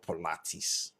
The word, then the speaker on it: Pilates: Velvet said it's called Pilates. And you know the funny thing is this. If I eventually pronounce it out and call it pilates, they will say you're not bougie enough.